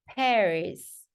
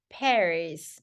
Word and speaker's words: Paris: 이거는 Paris, Paris. 예, 그래서 파리 아니고 파리 원래 아마도 불어가 그렇게 되나요? 좀 불어를 잘 못해가지고 네, Paris, Paris 이렇게 발음돼 Paris.